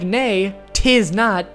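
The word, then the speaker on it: Neitiznot: See, if you say it like nay t not and yah tiso, it's supposed to sound like no it is not and yeah, it is so.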